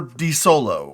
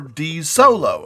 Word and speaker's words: Desolo: Desolo. Or DEE-soh-low. Or dee-SO-low. Or however you want to say it.